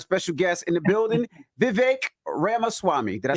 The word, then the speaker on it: Vivek Ramaswamy: And we got a special guest in the building, Vivek Ramaswamy.